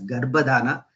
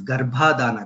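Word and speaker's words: Garbhadhana: in fact last time I made a mistake of pronouncing a few times gadana as gadana I sincerely regret that mistake it is gadana GHA plus Adana this gadana suncar is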